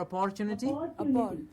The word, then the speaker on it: opportunity: is it opportunity or opportunity no exactly it's upper just like the metal copper that's the one that we have to remember upper copper opportunity absolutely excellent it is